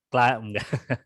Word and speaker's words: climbing: eh ini bacanya gimana climbingak huruf b-nya enggak dibaca kiming climbing ya climing climbing jadi yang seperti ini